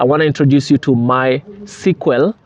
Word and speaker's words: MySQL: to introduce you to my sql that is how they pronounce it but in actual sense it's mysql so um mysql is